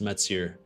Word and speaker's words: Mathieu: Um because I am French Canadian, so my name is actually pronounced Mets.